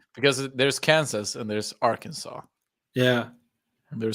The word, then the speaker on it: Arkansas: I think they're called Arkansas yeah Rock toown Arkansas yeah pronunciation things the S on the end is silent yeah I know but